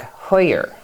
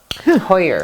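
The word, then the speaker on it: Huyer: tobolo and dr dirk hoyer hoyer that's weird the way it's spelled makes you hold your mouth a certain way h-u-y-e-r okay okay well that's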